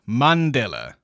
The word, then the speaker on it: Mandela: It's pronounced Mandela, like Monday.